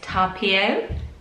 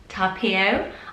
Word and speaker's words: Tapio: And I'm sure I got the pronunciation wrong last time. I think it's correct now, and it's Tapio. Tapio.